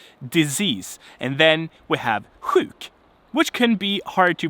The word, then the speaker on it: sjuk: And then we have sjuk, which can be hard to pronounce for some.